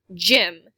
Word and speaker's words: gym: Potter teaches is gym. Gym makes the J sound after the letter Y here.